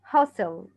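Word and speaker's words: hostel: bazaar bazaar repeat bazaar youth أو youth hustle youth hustle حرف T هنا silent souvenir souvenir tourist information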